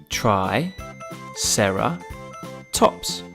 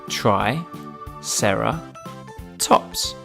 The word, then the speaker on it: Triceratops: the brilliant ankylosaurus now it's time for Triceratops try Sara tops can you say it with me try Sara tops let's learn all about Triceratops Triceratops was found